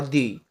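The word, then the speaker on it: the: आप लोग जानते होंगे, अगर कोई भी वर्ड वॉवेल से शुरू होता है, जैसे एलिफेंट है, ई से स्टार्ट होता है, और अगर एलिफेंट से पहले टी एच ई आएगा तो इसका प्रोनाउंस हम लोग दी करते हैं।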